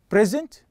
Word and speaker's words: present: So if I focus or emphasize the first syllable, the first one, okay, I'm giving you a noun. But if I emphasize or stress on the last one, okay, like present, okay, reject. So here I'm emphasizing or focusing on the last syllable, which is give us the verb, okay, as or function as a verb.